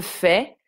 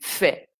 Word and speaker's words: fais: Je fais, tu fais. Le S est muet.